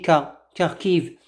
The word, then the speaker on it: Kharkiv: Ils habitent Kharkiv, voilà, donc KH, on le prononce Kha, mais en français on dit Kharkiv.